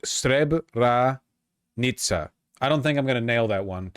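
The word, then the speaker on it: Srebrenica: It's pronounced Streb R Nitsa.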